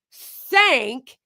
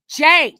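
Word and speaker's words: Cenk: hard all of them all of them call him sank it's like it's Jank what are you guys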